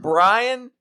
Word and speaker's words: Brian: know I don't know if that's how you pronounce it it is not I can assure you it is not Byron Byron Brian oh it's Brian it's it's not hard it's